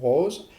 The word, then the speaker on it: rose: à la virgule ici pour prononcer le E du mot rose. Or, vous devez obligatoirement le prononcer, ce E, sinon il va vous manquer une syllabe.